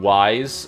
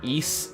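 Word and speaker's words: Ys: interesting planning on doing wise or East as it's supposed to be pronounced like East origins because I know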